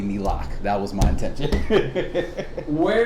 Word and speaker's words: NELAC: that slide, but no, the actual pronunciation is indeed supposed to be NELAC.